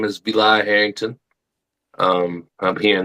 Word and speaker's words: Vilai: Can you give us the true pronounce pronunciation of your your name? Yes. Uh hey everybody. My name is Beli Harrington.